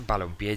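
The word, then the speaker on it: balompié: Al juntarse, balón-pie ya es aguda, acaba en vocal, entonces se le tiene que poner tilde.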